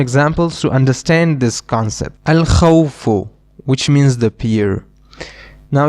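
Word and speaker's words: الخوف: We pronounce the lam because kha, this letter is one of the moon letters, and we just learned that when we have a moon letter after the alif lam, we will pronounce the lam. That is why we will pronounce the lam, al-khawfu.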